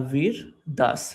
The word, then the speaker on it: Vir Das: V I R Vir Das D A S.